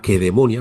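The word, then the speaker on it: Lacedemonia: Grecia que bueno pues como ellos lo pronunciaban, la queedemonia. Nosotros hemos transformado las CAS del griego y del latín, las hemos transformado en en C suaves, ¿no?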